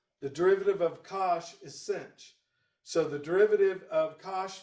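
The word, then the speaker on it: sinh: you can also say instead of hyperbolic sign you can say cinch and kosh rhymes with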